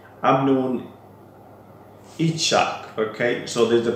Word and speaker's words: Yitzhak: platforms as well, that this guy called Amnon Yitzhak. Okay, so there's the pronunciation in the name.